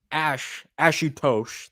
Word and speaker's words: Ashutosh: So Ashutosh, that's how his name is pronounced, is going to the gym now.